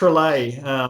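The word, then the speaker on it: Trollé: e right correct yep it's pretty easy pronounced relay it's got a it's got an accent over the e like bowl a in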